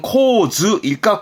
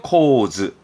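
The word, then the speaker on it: 構図: 그러면 구도라는 건 구는 코 발음이건, 그러면 코즈일까 코토일까? 여기가 문제입니다. 기억나세요? 이 도자의 경우는 도서관의 도, 의도하다 할 때 이 토 정도만 토로 보고 나머지는 몽땅 즈로 가라 했었습니다. 그래서 발음은 코즈입니다. 명심하세요. 코즈.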